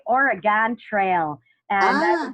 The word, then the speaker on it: Oregon: Oregon, it's a nasal Western New York thing, but it's across the country, I think we tend to pronounce it incorrectly. So if an Oregonian has not corrected you, I was very nice in letting you know. It's Oregon, Oregon. I've only been there once and I loved it.